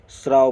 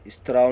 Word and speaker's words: स्राव: स्त्राव नहीं स्राव, जैसे खून का रिसाव होता है उसको स्राव बोलेंगे, स्त्राव नहीं बोलेंगे।